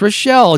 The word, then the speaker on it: Rochelle: No, it's not Rachel. It's Rochelle.